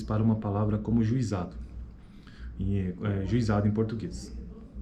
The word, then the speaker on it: juizado: Consideremos agora as transcrições possíveis para uma palavra como juizado, juizado em português. Podemos ter uma pronúncia que apresenta uma sequência de vogais, juizado. Neste caso, a palavra será pronunciada com 4 sílabas.